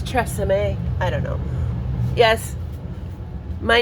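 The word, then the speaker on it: Tressa Mae: Oh, maybe it's Tressa May. I don't know. Yes, my name is Tressa May, M-A-E. It's pronounced like the brand, but it isn't French.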